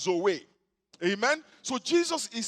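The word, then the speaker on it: ζωή: the life of god the greek word is actually pronounced zoe amen so jesus is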